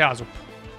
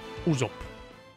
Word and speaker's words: Usopp: E salvo anche Aesop. Usopp. Credo che si pronunci Usopp. Però va bene.